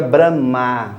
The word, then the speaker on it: Brahma: Em sânscrito a gente pronuncia Brahma com o A longo.